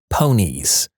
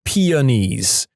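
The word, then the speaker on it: peonies: in a story and my classmate said it's pronounced ponies. I looked doubtful and said really I'm pretty sure it's just pees.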